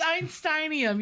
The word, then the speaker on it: Einsteinium: Einsteinium? It's one of those. It's Einsteinium.